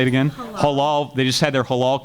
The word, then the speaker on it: halal: Halal.